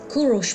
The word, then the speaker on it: Kurosh: Kurosh Mall is named after the indigenous Persian pronunciation of Cyrus, as in Cyrus the Great.